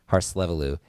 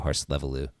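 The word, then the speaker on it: Hárslevelű: Harlevu. H A R S L E V E L U. Hallelu. That's correct. Oh my god. Unbelievable. Harleu.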